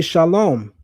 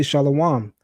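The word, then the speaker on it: שלום: the Hebrew word for peace, I say shalom. The masses of Israelites will say shalawam.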